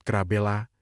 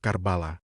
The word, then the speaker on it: Karbala: Pagi-pagi sekali, seluruh tabut kembali diarak menuju sebuah kompleks pemakaman yang disebut Krabela, sebuah pelafalan lokal untuk Karbala.